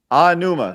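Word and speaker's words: Aonuma: this that right there every vowel is pronounced the same way in Japanese okay so there's no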